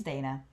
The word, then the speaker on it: Dana: like a simple correction, like it's Dana. But I was sat next to this girl named Donna that spelled the same.